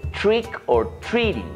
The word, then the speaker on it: trick or treat: triki triki Halloween Bueno realmente no se dice triki triki se dice Trick or Treat que significa truco o